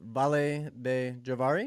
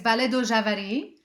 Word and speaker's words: Vale do Javari: Is it Vale de Javari? Am I saying that right? It's in Portuguese, Vale do Javari.